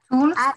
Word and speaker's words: tools: Tools, maybe? Yeah. Yeah, remember that when we have two O's in a word, it pronounced like an U, okay?